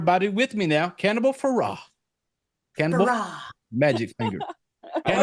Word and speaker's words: Ferox: with me now cannibal Farah cannibal magic finger I like how you pronounce it I like how Farah it l it rhymes with hurrah yeah it's a happy